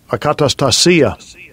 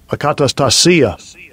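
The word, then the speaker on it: ἀκαταστασία: So when you go into that word commotions, I always have trouble pronouncing the word, the Greek word there. Strong's G181. Akatastasia. Akatastasia.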